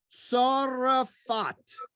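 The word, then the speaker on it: צרפת: gaul became seraphith or in hebrew we pronounce it a little differently it's that the z is a saudi and the th is a tongue and so what zaraphath becomes sora fat okay sorrefat is zaraphith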